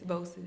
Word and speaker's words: VOCES: Is that how you pronounce it? Yes, Vosis.